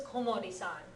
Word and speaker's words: Komori: O and kol are both possible pronunciations of this chisai. So he was Komori-san.